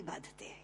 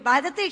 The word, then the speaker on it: बाधते: मुंह से बोला हुआ बाधती शब्द कष्ट दे रहा है क्योंकि बाधते शब्द का अशुद्ध उच्चारण आपने किया है यह शब्द बाधते होना चाहिए भारत न बाधती राजन